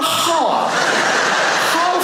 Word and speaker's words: half: I'll be back in a half a half a half in half has has an L IN IT HALF A HALF.